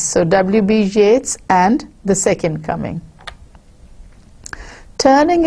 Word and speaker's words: Yeats: And look at this man, he's pronouncing this name in the same rhyme pattern as that of Keats. So W.B. Yeats and the second coming.